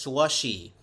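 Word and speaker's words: Slusee: Slushy Burger was originally spelled as Slushy, S-L-U-S-E-E, but still pronounced Slushy.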